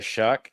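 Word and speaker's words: Shough: Uh, the New Orleans Saints did get Tyler Shuck. That's spelled with a gh for those of you who hate the American English language.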